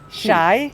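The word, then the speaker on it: شاي: Shy. Shy. Yeah. Yeah, because shy it's a universal Like word. shy. So like Yeah. every country, they almost you can guess it. Shy, Yeah.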